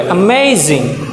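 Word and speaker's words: amazing: তাহলে অ্যামেজিং, হ্যাঁ স্ট্রেসটা হচ্ছে এখানে যে সেকেন্ড সিলেবালে অ্যামেজিং।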